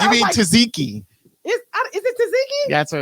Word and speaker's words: Tzatziki: white what you mean Tzatziki is it taziki that's what it's pronounced Tzatziki Tzatziki okay how was your weekend it was